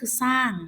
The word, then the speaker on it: สร้าง: พอ เวลา เรา อ่าน เรา จะ ตัด ร เรือ ออก ไป เสียง ของ มัน ก็ คือ สร้าง นะ คะ คำ ข้อ